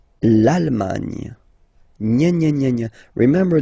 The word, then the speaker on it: Allemagne: Okay, A-N, en, D, and final E, not pronounced. Irlande. Le Royaume-Uni. Le Royaume-Uni. Le Royaume-Uni. Okay? L'Allemagne. L'Allemagne.